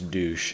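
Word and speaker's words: Dusche: word for shower is douche and that's exactly how it's pronounced the history of Adidas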